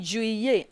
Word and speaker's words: juillet: Then juin, then juillet. I told you, don't pronounce it juillet. It's not juillet. Juillet. As a matter of grammar, okay? When you see double L, you pronounce yi.